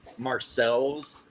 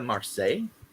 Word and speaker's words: Marseille: and I was embarrassed for saying Marcel's or something like that. And this woman was like, do you mean the Marseille? And I'm like, is that how it's said? And she's like, yes.